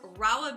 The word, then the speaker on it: Rahua: here with Anna one of the cofounders of rolla beauty that is how you pronounce it right you got it right okay